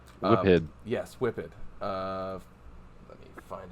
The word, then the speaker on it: Whiphid: And coming down those stairs is a very large, I'm sure I'm going to pronounce this wrong, Whiffid? Whiphid.